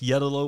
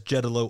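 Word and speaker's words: Jeddeloh: we've got jedolo orange or really should be pronounced yellow orange because it was named after yellow Nursery but often pronounced in the nursery trade as jetalo Orange another dang underrated tree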